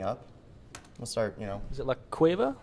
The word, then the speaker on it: La Cueva: Is it La Cueva? How do you say that? Yeah, La Cueva.